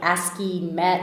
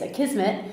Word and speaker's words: Akismet: So the question that I have for you today has to do with Akismet, which I always thought it was like Akismet or something, but it's Akismet, and it has to do with it's spelled Akismet.